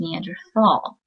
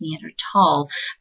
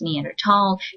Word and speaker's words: Neanderthal: the Germanic language U the th is pronounced as a hard T so in the scientific Community it's pronounced neander tall you can say Neanderthal that is correct but